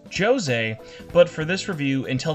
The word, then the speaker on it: Jose: Next up is Jose, which in the game is pronounced Jose, but for this review, until the end of time, he will always be referred to as Jose.